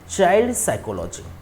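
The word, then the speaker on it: psychology: ठीक है child साइकोलॉजी साइकोलॉजी में स्टार्टिंग में पी साइलेंट साइकोलॉजी तो साइकोलॉजी हम कहते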